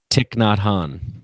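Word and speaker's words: Thich Nhat Hanh: guy you mentioned i'm not sure how to pronounce his name say it one more time tick not han there you go yeah uh who i've read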